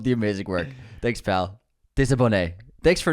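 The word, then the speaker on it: désabonné: Pronounced like Lisa Bonet, but Desabonné.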